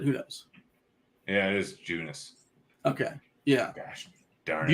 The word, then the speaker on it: Junis: Jakob Eunice. It's a fun way to say his name. Junis, gosh.